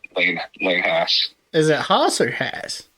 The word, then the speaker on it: Haas: And it's Lane Haas. Is it Haas or Haas? It's pronounced, well, it's spelled like Haas, like Haas, but it's pronounced Haas, yeah.